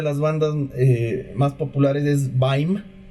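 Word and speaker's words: Bajm: Una de las bandas más populares es Baim, B-A-J-M, pero se pronuncia Baim.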